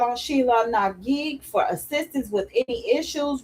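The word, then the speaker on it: Sheela na gig: I accept Sheila McGee. Oh, is that how you say her name? Sheila McGee? It's a G-I-G. Gig.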